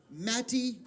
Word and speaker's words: Mattie: Mattie, M-A-T-T-I-E, Purnell. P-U-R-N-E-L, I believe is how it's spelled.